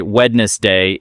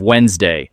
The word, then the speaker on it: Wednesday: the l sound or they say wedness day instead of Wednesday and sometimes even if